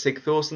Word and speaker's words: Sigthorsson: Up front, the best option in my opinion is, I think it's Sigthorsson, that's how you pronounce that name.